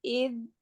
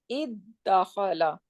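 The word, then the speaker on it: ادّخل: So it will become iddakhala. And then they just diffuse 2 dal together, make it shadda, and it become iddakhala.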